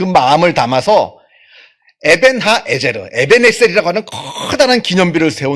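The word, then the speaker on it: אבן העזר: 기념비를 우는데 그 그 기념비의 이름을 에벤에셀 더 정확하게 발음을 하자면 에벤 하 에제르 히브리어로 에벤이라고 하는 것은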